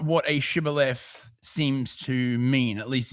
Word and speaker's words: Shibboleth: Ultimately, from Hebrew, torrent of water from the use of this word to distinguish one tribe from another that pronounced it Sibboleth, not Shibboleth.